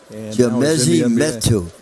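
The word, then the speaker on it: Chimezie Metu: Chimezi Metu. You're good, you. You got a gift. I butchered the first edition, really, but you got that one right on the money.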